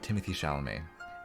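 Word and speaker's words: Timothée Chalamet: me crazy but he looks kind of like timothy chalamet uh timothy chalamet if you want to pronounce his name correctly so john tyler i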